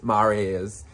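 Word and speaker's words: Miyares: i get his last name right i'm gonna spell it it's freddy m-i-y-a-r-e-s maria's as scroll like he he kills it he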